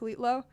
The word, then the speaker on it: Lilo: the demo as ltlo and then pronounced out loud it sounds like lilo and that's why the song is called lilo it's fine but yeah